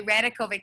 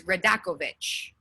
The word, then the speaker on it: Radakovic: name is radakovic okay radakovic that's how we say it in the united states but it's serbian so my serbian family says radakovich aha that's what i